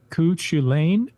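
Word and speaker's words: Cú Chulainn: Now we need someone to make a movie about Cuchulainn, or Cuchulainn, pronounced as if Colin is super cool, LOL.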